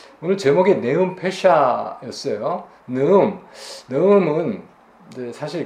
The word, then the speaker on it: נְאֻם: 좀 살펴볼 텐데 오늘 제목이 네음 페샤 있어요 네음 음은 이제 사실 그 제 발음이 맞는 발음입니다 네음 하면 조금 강한 발음이